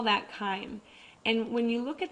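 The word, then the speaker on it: chyme: the stomach that that food is now called Kim I know it looks like chime but it's actually pronounced k crime is this thick liquidy Mash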